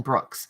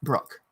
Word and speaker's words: Brooke: The other thing that Anne Brooke was talking about was, and I keep saying Anne Brooks. That's not right. It's Anne Brooke, like spelled the same way I spell my name.